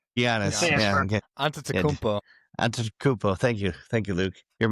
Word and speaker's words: Antetokounmpo: Antetokounmpo. Giannis. Yeah. Okay. Antetokounmpo.